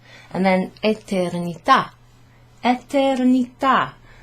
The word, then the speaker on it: eternità: And then eternità. Eternità. There's a sort of a grave accent on the A.